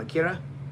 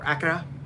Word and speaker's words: Akira: like Kannada's bike from Akira or Akura depending on how you say it and how you pronounce it. Akira if you're very Caucasian.